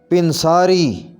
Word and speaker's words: پنساری: کر کے پڑھیں گے بیخ کنی، بیخ کنی، پنساری، صحیح ادائیگی ہوگی پنساری، پنساری، پنساری۔ بیساکھی، اس کا صحیح تلفظ ہوگا بیساکھی، بیساکھی۔ بلند، بلندی، صحیح پڑھیں